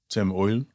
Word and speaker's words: Eull: which makes an oi sound. Oh. So, Oil or. Oil or is like the German pronunciation. Tim Oil.